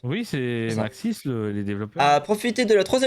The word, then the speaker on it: Maxis: Eh bien, Maxis, c'est ça, comme ça qu'on prononce? Oui, c'est Maxis, les développeurs.